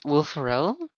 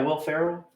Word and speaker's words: Will Ferrell: of ricky bobby step brother i don't know will pharrell yeah will ferrell uh that's how you say his name oh